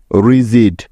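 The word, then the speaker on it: rigid: জি বর্ণটার পরে আই থাকলে জি এর জ উচ্চারণ হওয়ার কিছু উদাহরণ যেমন আর আই জি আই ডি রিজিড তো দেখো এই শব্দটির প্রথমে আছে আর তাই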